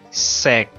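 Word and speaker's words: 食: Y sec, que significa comer, es igual que la palabra seco. Solamente quítale la o y lo dices con un tono grave, un tono bajo.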